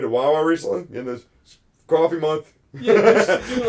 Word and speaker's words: Ko-fi: But I've heard of this new service called, I think it's called like Ko-fi, or it's pronounced coffee.